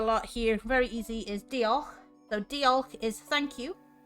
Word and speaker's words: diolch: Another one I say a lot here, very easy, is diolch. So diolch is thank you. Diolch. Yes, okay. Diolch. So you use that CH as a ch sound, so it's diolch.